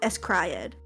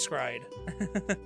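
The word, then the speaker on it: s.CRY.ed: I could not remember was an anime called Escriad. Oh, Scriaded. Escriad. I thought it was Escriad. Is that not how you pronounce it?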